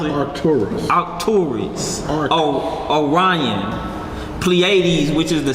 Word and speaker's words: Pleiades: How you pronounce it? Arcturus. Orion. Pleiades, which is the 7 stars, and when you get into Enoch, it's actually talking about 7 planets that wander.